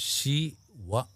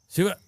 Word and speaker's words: Shiva: You North Indians, you Delhi people made it Shiv. Because you eat up the last syllable in everything, all right? We say Rama, you say Ram. Krishna, Krishna. So you eat up the last syllable, so you ate up Shiva also. Shiv he became.